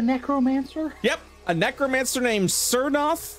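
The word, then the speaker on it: Tsernoth: yep a necromancer named cernoth the t is silent t-s-e-r-n-o-t-h a cernos from the city of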